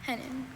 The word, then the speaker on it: hennin: Are there any alter pronunciations? I have just hennen. Hennin.